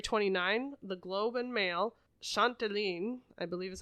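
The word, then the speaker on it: Châtelaine: Also an award-winning Canadian journalist who has worked as an editor for Refinery 29, The Globe and Mail, Chanteline, I believe is how you say that, and Toronto Life.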